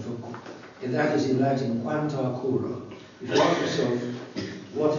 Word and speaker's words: Quanta Cura: It signifies a long syllable as is a short syllable. Short would be Quanta Cura. Long, it's Quanta Cura. In other words, the ablative instead of the nominative. The nominative is short, the ablative is long.